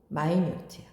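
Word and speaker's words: minute: 그리고 발음도 마이뉴트야. 미니트 명사고 마이뉴트는 사소한 작은이지. 이거 모르는 사람들이 많았어.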